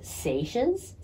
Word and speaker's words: seiche: They can even trigger tsunamis, or, how do you pronounce this? Seiches? Yeah, seiche. Mm-hmm. Seiches.